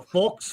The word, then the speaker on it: faux: This deluxe edition features a stunning foul fox forks.